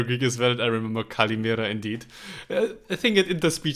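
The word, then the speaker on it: καλημέρα: Kaliʻmeṟa. Kaliʻmeṟa. Ah, perfect. I know this actually from the napkins that you get in the Greek restaurants here in Germany. There's some survivor Greek as well. I remember kaliʻmeṟa indeed.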